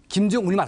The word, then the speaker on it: 김정은: 했으니까 김정운으로 이제 했었는데 그 일본 분들이 우리 말을 발음할 때 은 발음이 잘 안 돼서 김정운 이렇게 운 비슷하게 발음했을 가능성이 높다면서요?